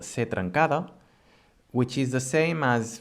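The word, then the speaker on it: ce trencada: And it's pronounced anyway as the normal C, the C.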